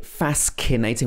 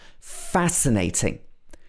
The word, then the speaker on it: fascinating: next one is fascinating so we don't say fascinating we say fascinating the documentary was fascinating